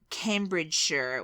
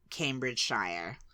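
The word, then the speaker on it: Cambridgeshire: me to pronounce him Cambridge sure was the first one but I would have said before knowing you Cambridge Shire yeah sh I think all Americans because you love saying Shia because you think it's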